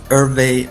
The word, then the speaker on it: Herve: toner news is so yes my name is irve no one could pronounce irve so I just call myself